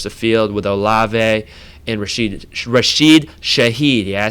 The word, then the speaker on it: Rashid Shaheed: want to stretch the field with Olave and Rashid Shaheed.